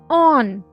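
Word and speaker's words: он: Here in on, you can see the O is with a dash mark, which means here O is stressed and it will be pronounced as on.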